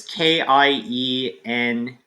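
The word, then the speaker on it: Keiynan: So it's Kyenyan.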